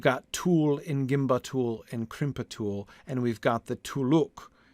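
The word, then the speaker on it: krimpatul: The rhythm and sound of gimbatul and crimpatul make me want to stress the first and third syllables. Me too. But the way pot and bot sounds are used in the rest of the verse makes me want to stress them.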